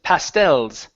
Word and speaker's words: pastels: now that last word instead of pastel it's pastels pastels pastels the stress is on the end of the word so in this situation we wouldn't say pastels okay because it's stressing that e l we say pastels okay good all right